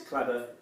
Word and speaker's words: Claddagh: Claddagh? Is it Claddagh? It's Cladder. Cladder.